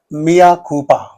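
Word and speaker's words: mea culpa: Mia Koopa. Mia Koopa L is silent please.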